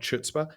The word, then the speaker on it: chutzpah: With a certain amount of chutzpah, I call up, and for those of you out there, it's pronounced chutzpah, not chutzpah.